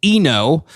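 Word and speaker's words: I-No: One is we're introduced to Eno, which is spelled capital I hyphen capital N O.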